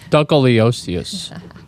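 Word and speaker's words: Dunkleosteus: Dunkeliosteus. That's the pronunciation.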